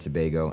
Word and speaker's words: Tobago: shout out Dante from the Caribbean Trinidad and Tobago I said it right just for the Pod